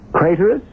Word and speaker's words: Craterus: Craterus, which rhymes with traitorous.